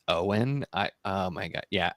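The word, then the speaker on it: Eoin: Because you read um it's Owen, right? It's Oh, is that way you actually say his name? Owen.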